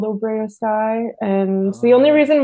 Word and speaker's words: OBROA-SKAI: So that's kind of how it sticks, even though when you see it written down, it doesn't look like that pronunciation at all.